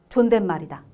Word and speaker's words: 존댓말: 예사말의 반대말은 존댓말이다. 이렇게 스토리를 만들어서 다섯 개를 꼭 외우셔야 돼요. 아셨죠? 그럼 이거 연결돼서 봐 볼게요. 예사말의 반대라고 할 수 있는 존댓말은 씨옷이 있어요. 얘는 존댓말 이렇게 발음이 되거든요.